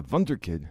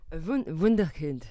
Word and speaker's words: Wunderkind: And I told Marie, I've called him a Wunderkid, so I can talk in German. gosh. He's a Wunderkid. I don't know if Wunderkid. How do you say that, Marie? Wunderkind.